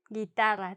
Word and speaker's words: guitarra: Guitarra. Tring, tring, tring. ¿Sí? Guitarra. If it didn't have the U, it wouldn't have that sound G. It would have the H, como hello.